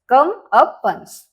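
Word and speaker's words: comeuppance: इ पडेल काय आहे मग कम अपन्स कम अपन्स ओके हे आहे याच प्रोनन्सशन कम अपन्स सी ओ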